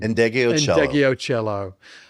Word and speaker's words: Ndegeocello: Michelle, how do you pronounce her second name? Ndegeocello.